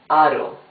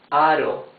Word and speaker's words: aro: However, if the R is in the middle of the word and is not doubled, it's a smoother sound. Aro. R. You see? It's smoother. Aro.